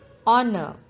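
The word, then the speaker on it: honour: this word i land honor the letter silent in this word is h honor handkerchief d is silent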